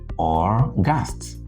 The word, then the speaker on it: August: Therefore, this is not August as an adjective. It is August. August. An August visitor, a very important visitor. But the 8th month of the year is August. The month of August, that is a noun. August is a noun. August is an adjective, as in August visitor, where the adjective August qualifies, not qualifies, but qualifies the noun visitor.